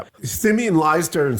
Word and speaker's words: Simeon: No, it's Simeon. Which always makes me think of monkeys.